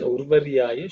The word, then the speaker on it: Urvaryaya: In terms of pronunciation, Urvaryaya should be pretty simple. You have to just make sure that it's Urvaryaya.